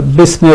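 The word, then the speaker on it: بسم: So from Ba we go to Sin. We do not pronounce Hamza of Ism. So rather than Bi Ism, actually this is Bi Ism, but this is dropped in pronunciation.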